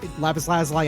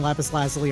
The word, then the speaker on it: Lapis Lazuli: If anyone fucking calls me out on my pronunciation of Lapis Lazuli, by the way, Lapis Lazuli and Lapis Lazuli are both acceptable pronunciations of the name of the word.